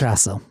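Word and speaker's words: Yggdrasil: Rain Grace alternatively 7045 asks, "Will you ever cover Yrasil, I think that's is that how it's pronounced?" Idrasil.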